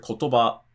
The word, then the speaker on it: kotoba: So if you're reading and you come across the word kotoba and you remember, oh, this is a 3, then in your head you have to basically count the syllables and go kotoba, okay, it's after the ba.